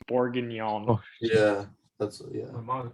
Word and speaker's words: bourguignon: the other day um borgioni final answer it's something i'm taking it that's just pronunciation it's beef bourguignon yeah yeah all right